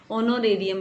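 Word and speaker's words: honorarium: फिर उसके बाद में ऑनोरेरियम टू डॉक्टर्स, यहाँ पे एच साइलेंट है। जैसे आप आज कैसे रीड करते हो HOURS को, हावर्स कोई नहीं पढ़ता है ना, वैसे यहाँ पे ऑनोरेरियम इसको रीड किया जाता है।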